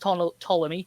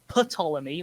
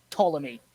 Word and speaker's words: Ptolemy: time and it's pronounced ptolemy not patolomy like some was trying to tell me at uni ptolemy here's simon like pterodactyl which pretty sure is the example i gave to him um so one person